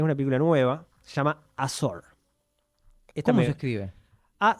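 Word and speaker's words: Azor: tema que es una película nueva, se llama Asor. ¿Cómo se escribe? A Z O R. Ajá. Asor.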